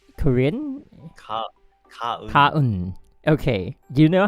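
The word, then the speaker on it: 가은: Let me just take a So there's this character, her name Gaeun, and I always pronounce it as Gaeun. Gaeun? Is that correct? Korean? Kaun.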